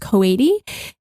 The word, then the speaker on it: Coady: I think her last name is pronounced Coady, and it's named after her grandmother.